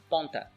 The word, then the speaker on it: ponta: It's the same, it's a nasal sound with a little n at the end. Take for example the word ponta.